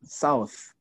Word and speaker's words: South: Okay, say South. South. South America is a country. Yeah. So the pronunciation is au.